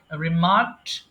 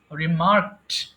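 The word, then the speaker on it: remarked: রিমার্ক মন্তব্য করা, রিমার্ক, রিমার্কড, রিমার্কড। আচ্ছা, লাস্টে একটা ঠ সাউন্ড আসবে, যদিও এখানে ড আছে কিন্তু উচ্চারণের সময় ঠ আসে অটোমেটিকলি।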